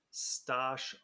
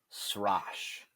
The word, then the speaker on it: Stosh: get us started yeah my favorite one is the one that I get in the mail sash so r instead of t and they're like sash we have a special